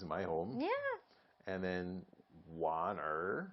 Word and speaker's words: 玩: What's the real way to say it? Or not the real way, the standard way to say it without the R? 玩.